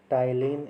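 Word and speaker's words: ptyalin: टाइलिन, यहाँ पे P silent है, और सलाइवरी एमाइलेज, ठीक है।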